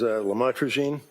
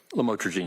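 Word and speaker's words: lamotrigine: about the u the lam otherwise known as lamatroine. Did I pronounce that right? Lamotrogene.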